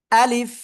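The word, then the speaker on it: ا: তারপরে লিফ নিচের ঠোটের পেট উপরের দুই দাঁতের আগার সাথে লাগিয়ে কি হবে হালকা বাতাস বের করতে হবে ঠিক আছে আপনার শেষে এসে যদি বাতাস বের না হয় তাহলে কিন্তু আলিফ অক্ষরটি সঠিকভাবে উচ্চারণ হবে না এটা অবশ্যই সবাই মাথায়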